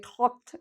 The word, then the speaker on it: talk: I talked to my friend. We don't pronounce the L.